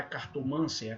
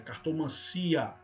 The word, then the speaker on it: cartomancia: álvaro é a varão não é cartomância cartomancia ciclope não é liberou